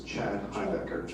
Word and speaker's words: Chad Himebecker: My name is Chad Himebecker. That's the correct pronunciation.